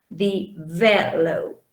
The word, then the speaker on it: develop: If I say, for example, develop. Where does the stress fall in develop? In which syllable? Develop, do you think? The second.